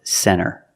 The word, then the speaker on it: center: When you see NT, a lot of times you don't hear the T. Example, center. Of course, you can say center, it's correct, but a lot of Americans will pronounce it center.